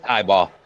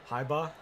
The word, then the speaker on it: Heiberg: It's highball. Heiba. Highball.